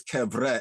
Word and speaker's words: Kebra: goodness to the cabre actually is cabre is in this proper pronunciation to offer a third